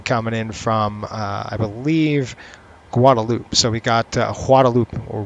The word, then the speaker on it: Guadeloupe: It's spelled Guadeloupe, but they don't say the G. It's a silent G.